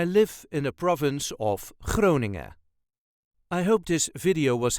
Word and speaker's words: Groningen: Also, the N at the end of Groningen is often not pronounced. So just Groningen. I live in the province of Groningen.